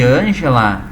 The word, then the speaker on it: Ângela: Muita gente já sabe que Ângela, quando a gente pronuncia Ângela, vem cá, preciso falar contigo. Olha aonde é que eu dei a maior tonicidade, onde é que eu puxei agora a sílaba com maior ênfase. O an, né, gente?